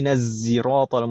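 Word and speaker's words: صراط: Beda lagi ya, pakai zai sekarang. Tadi cuma dua, shad sama sin. Sekarang nambah lagi, kita pakai zai. Kalau yang pakai shad itu fushah. Kebanyakan kabilah menggunakan shad.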